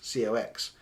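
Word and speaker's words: Cocks: surname as her ex, which is Cox, C-O-X, except it's spelt like Cox, C-O-C-K-S.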